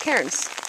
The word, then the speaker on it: cairns: They're called cairns. I think it's how it's pronounced. C-A-I-R-N-S. Well, it's a pile of rock.